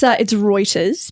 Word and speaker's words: Reuters: It's Reuters, but you were very close.